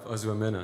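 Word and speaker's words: Ozoemena: I'm trying to get the pronunciation right. And his wife, Ozuomena, am I right?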